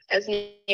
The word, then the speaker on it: Ezinne: I am Ezinne, Ezinne rhymes with resume if we haven't met,